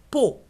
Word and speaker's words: pot: Faux, po. Pardon. Moto, po. Donc, le mot po, c'est une seule syllabe. La lettre T, on ne la prononce pas.